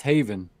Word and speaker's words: Haven: stuff like that also heaven is pronounced Haven I was ignorant all right awesome thank